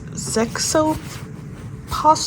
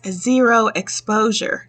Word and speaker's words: Zero Exposure: Um, it's a Zexoper, if I'm saying that right. I wasn't saying it right. It's Zero Exposure.